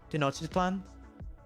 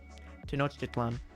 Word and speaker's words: Tenochtitlan: Tenochtitlan? How you say Tenochtitlan? Tenochtitlan. Tenochtitlan. That's it. Oh, I can't do that one. Tlelahu is pretty good, right? Tenochtitlan. Toe-notch. It's not toe. It's te, right?